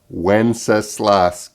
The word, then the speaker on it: Wenceslas: it is the title it's good king wenceslas good king wenceslas i hear a lot of different pronunciations but i'm pretty sure that's the pronunciation of this folk song good king once isla so take a look